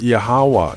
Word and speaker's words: Yahweh: The true name of the Creator is pronounced Yahweh, and for details on that research, please see my video, What is the True Name of the Creator and the Christ?